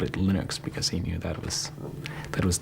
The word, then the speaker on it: Linux: category how do you pronounce Linux well I pronounce Linux as Linux however however the total answer to that is